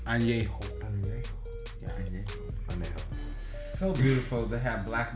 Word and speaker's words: añejo: And by the way, the correct pronunciation, because I was saying anejo too. Yeah, I would. It's añejo.